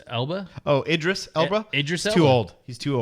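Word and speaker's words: Idris Elba: uh Elders how do you say it Elder eldris Ela oh Idris Ela Idis too old he's too old he would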